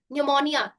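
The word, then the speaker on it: pneumonia: तो पी का उच्चारण नहीं होता। जैसे कि यहां पर एक लिखा है साइकोलॉजी निमोनिया रिसीट टेरोडक्टाइल।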